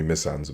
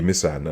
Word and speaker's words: Misan: name is missan so everyone calls me miss anza but it's a mishand and my middle name